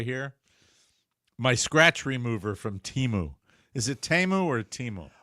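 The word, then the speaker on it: Temu: make a decision because I've heard it both way I like Teemu I like Teemu also it's natural to say Teemu then we we've agreed it's uh it's Teemo uh when you order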